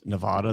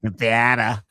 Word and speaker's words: Nevada: You know, she sounds like she pronounces Nevada the same way as you, Ash.